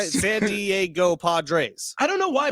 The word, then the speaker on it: Diego: It's 3 syllables. Diego. That's 4 total.